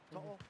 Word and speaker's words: To'o: To'o, is that say it right? To'o? Yeah, To'o.